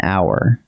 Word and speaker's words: hour: The H is silent, so what your ear actually hears is a vowel sound, ow. Follow the sound, not the letter. The answer is an hour.